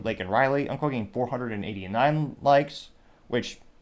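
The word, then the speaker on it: Laken Riley: Cameron Gilman says, quote, call illegal aliens, say your name, Lake and Riley, unquote, getting 489 likes, which, yeah, he butchered her name. He called her Lincoln Riley.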